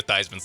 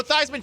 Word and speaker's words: Theismann: Joe Theismann changed the pronunciation of his last name to rhyme with Heisman, and he was a good quarterback in the NFL.